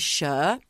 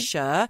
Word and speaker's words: Cher: really good friend of mine whose name is sure it's spelled c-h-e-r and she's known as sure and I'm wondering if it's because in Australia